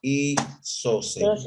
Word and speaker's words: isósceles: ponemos, es un triángulo isósceles. Entonces, Triángulo isósceles. ¿Isósceles lleva tilde? Sí, ¿no? Sí lleva tilde, ¿no? Si no dijera isósceles, ¿no? Isósceles, ahí está, sí lleva tilde. isósceles. Estrújula, ¿no?